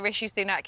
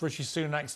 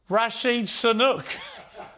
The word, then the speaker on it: Rishi Sunak: Rashid Sunak. I mean, that was pretty breathtaking to get both parts of his name wrong.